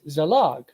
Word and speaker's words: zalag: So that's pronounced in Sumerian as zalag.